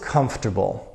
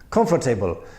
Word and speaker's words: comfortable: four syllables it's comfortable comfortable are you comfortable yes I'm comfortable not comfortable but comfortable we eat the sound we eat the vowels we do it we're